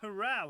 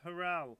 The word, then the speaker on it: Hurrell: Chris Innes has got James Hurrell, or Hurrell. James Harrell we'll go with. We'll say it's James Harrell. Remember how I say it is the proper pronunciation, sub what Sky Sports say. This is how it's being said. James Harrell when it's down to us.